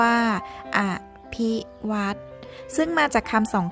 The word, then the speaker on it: อภิวัฒน์: เฒ่า นอ หนู การันต์ ออก เสียง ชัด ๆ ว่า อ้ะ ภิ วัฒน์ ซึ่ง มา จาก คำ